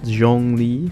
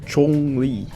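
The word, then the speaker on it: Zhongli: then that's interesting because i've heard like we said zhang li for like a million times and i just realized it's called chong li it's the hard sea yeah chong li that's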